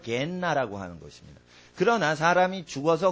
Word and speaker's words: 게헨나: 빨리 말하면 게헨나 이렇게 발음이 됩니다. 성경에는 게헨나 이게 육체가 나중에 심판의 부활로 생명의 부활로 마지막 날에 죽은 자가 다 일어납니다.